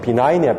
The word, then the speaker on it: benign: 7번은 나온다고는 외기지 말고 benign 발음도 안 돼요. 쟤는 benign이야. benign G 발음을 살리시면 안 돼.